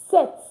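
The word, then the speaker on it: sept: And then seven is pronounced set. Set. Set. So you can see that it is spelled s e p t. But we did not pronounce the P in it.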